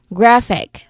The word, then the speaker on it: graphic: So e is not an option here and we only have one syllable left which is graph. uh meaning that that is our stressed syllable and it you can also see it in the how do you call it?